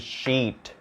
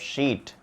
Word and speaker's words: sheet: So this is shit, this is sheet, it, eat, bitch, beach, fit, feet.